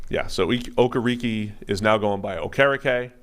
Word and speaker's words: Okereke: Bobby Okereke, apparently. Even though on the intros, which are recorded in the preseason, he says Okereke. Yeah, so Okereke is now going by Okereke.